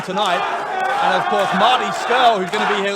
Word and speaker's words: Scurll: Yeah, make sure you say his name right, by the way. Scurll, not Scroll.